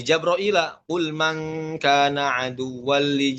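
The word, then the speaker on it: جبريل: Misalkan qul man kana aduwwan li Jibril ya. Dibaca apa? Li Jabraila. Qul man kana aduwwan li Jabraila fa innahu nazzalahu ala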